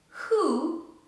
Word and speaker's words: who: exceptions so words like who whose rap right wrong have w in the beginning but it is not pronounced with what it is silent here so in these cases